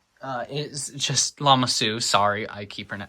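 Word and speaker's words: Lama Su: However, Jingo is very good at just missing arm printing and Somaloo uh is just Lamasu, sorry I keep mispronouncing it, is honestly just a great minifigure overall with minor flaws.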